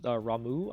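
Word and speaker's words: Ramuh: so i've got uh rama here as well this uh ramu i believe is actually how you say it uh i'm really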